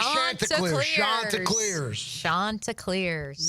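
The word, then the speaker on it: Chanticleers: said it wrong and I'm sure I said Shantaars. I always thought it was like that. So, I wanted to play that for everybody to know. Shanta Clears is how you say it, but yeah.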